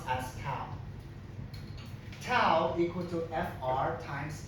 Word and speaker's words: tau: Tau equal to, it pronounced as tau.